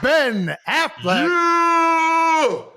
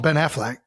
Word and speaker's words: Affleck: I mean, it's definitely ECK, but I feel like everybody pronounces it Ben Affleck.